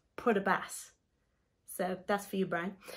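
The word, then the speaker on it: Port aux Basques: because there's a place if you wrote it down we'd probably pronounce it as Porto Basque but apparently it's put a bass so that's for you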